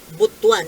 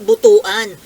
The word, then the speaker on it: Butuan: ha Kayo po ang ang pronunciation po ng butwan eh hindi Butuan butwan gastos Butuan Butuan po